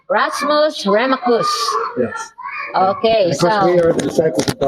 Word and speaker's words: Rasmus Remacus: Spell it so they will know, because it's going to be. Rasmus Remacus. Rasmus Remacus.